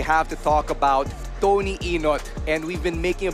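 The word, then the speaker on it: Ynot: to talk about Tony enot and we've been making a big deal out of the spelling because it's spelled why not as in why not go to Tony enot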